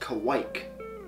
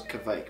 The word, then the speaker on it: kveik: with canadian pale malt kavik which is the nordic east pronounced kawaik never heard it pronounced kawaii i always thought it was kvike but moving forward and